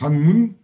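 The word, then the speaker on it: 한문: on l'appelle Kanbun en coréen c'est ça se prononce hananmun et en chinois hananvan en en Viet pardon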